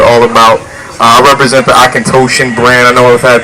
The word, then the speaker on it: Auchentoshan: about I represent the akant toan brand I know I've had people ask me how to pronounce it this evening it's actually Aken toan single Mall Scotch it's